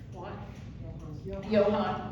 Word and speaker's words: Johan: Um Lorenzo and I think he pronounces his name or pronounced his name as Johan Johan and first of all